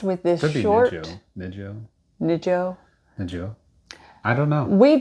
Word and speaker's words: Nijo-jo: I think it's Nijo. Nijo. I keep making the J's H's. Nijo-jo. Nijo-jo Castle.